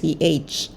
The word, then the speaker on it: Thoth: Thoth, I hope I'm pronouncing that right. It's Thoth.